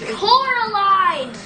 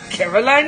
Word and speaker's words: Coraline: It's Coraline! Well, he said, Caroline. He said, funny, they even say your name wrong. They called you Coraline, not Caroline at all.